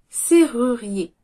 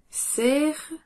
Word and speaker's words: serrurier: Serrurier. Ce mot vous aide à prononcer la lettre R suivie d'une voyelle. Ru et ri. C'est ru, ri. Et. Le R est plutôt léger. On le prononce doucement.